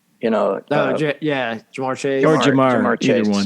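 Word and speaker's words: Ja'Marr Chase: The only thing that could upend that Cincinnati train is how badly hurt is Lamar Chase. Jamar Chase.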